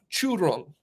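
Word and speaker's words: Zhurong: Oh, Churong. I think that's how you pronounce it correctly. Churong. You actually have to roll your R in it, which blew my mind about that.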